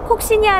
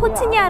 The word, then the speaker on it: Coccinia: 라틴어 발음 에 더 가까운 ' 코치니아 ' 라고 발음 합니다 . 우리나라 에서 는 주로 코치니아 라고 부릅니다 . 위키피디아 에서 찾아 보면 ' 코시니아 ' 라고 번역 되어 있습니다 .